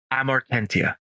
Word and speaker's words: Amortentia: How do you pronounce this? AMORTENTIA.